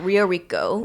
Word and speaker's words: Rio Rico: Yeah, Rio Rico, Very Arizona.